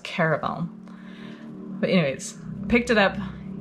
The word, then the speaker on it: Caraval: And it's not Carnival. There's no N. I think it's pronounced Caraval.